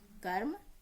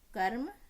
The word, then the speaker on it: कर्म: ठीक है, इनके उदाहरण आप यहाँ देखिए, कर्म, कर्म, र को बीच में प्रोनाउंस हुआ, इसी प्रकार सर्प, धर्म, दर्पण आदि हैं।